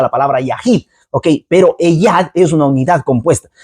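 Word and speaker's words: אֶחָד: la palabra uno viene usado con la palabra eyad o ejad. Bueno, yo no soy hebreo de madre lengua hebrea, no, pero es así, ejad. Ok, se pronuncia de ese modo, ok, y entonces es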